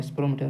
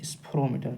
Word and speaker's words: স্ফেরোমিটার: স্ফেরোমিটার বা স্পেরোমিটার, অনেক সময় এটা বাংলা নাম উচ্চারণ হয় না, এটা হচ্ছে স্ফেরোমিটার। ঠিক আছে।